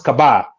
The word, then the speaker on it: Kaba: It's a West African name. It's pronounced as Kaba.